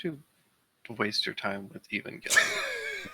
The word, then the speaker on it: Evangelion: I think it's a root from evangelist. So Evangelion, but they're Japanese, so they make it a hard G.